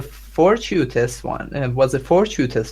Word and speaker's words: fortuitous: meeting was a fortuitous one, but the jealous husband construed it as prearranged and clandestine. Corrections. The meeting was fortuitous. Fortuitous. Fortuitous? Yes. Fortuitous. Second syllable.